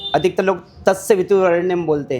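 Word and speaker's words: तत्सवितुर्वरेण्यम्: धीमहि धियो योनः प्रचोदयात तो इसमें कहां गड़बड़ी होती है? तत्स पे और तत सबसे पहले व्यक्ति तत्स बोल देता है। जल्दबाजी में तत्स का उच्चारण करता है जो कि गलत है। हां वहां उच्चारण होना चाहिए। तत्सवितुर वरेण्यम तत्सवि ओम तत्सवितुर वरण्यम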